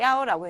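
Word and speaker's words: 一: 그래서 이런 것들 말고도 굉장히 많은 경우에 야오라고 읽는데 이제 그거는 그때그때 보도록 하고요. 우선 많은 경우에 이제 이렇게 신분증 번호, 차 번호 뭐 이렇게 숫자가 여러 개 있을 때는 우선 야오라고 읽습니다.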